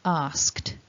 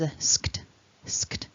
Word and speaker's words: asked: simple and past participle because our verb ask ends in that k sound our e d is just pronounced as a so asked so that ending is asked lots of consonants together